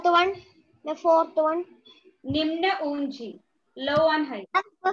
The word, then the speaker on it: निम्न: It is ni. Then ma, half and na. Nimn.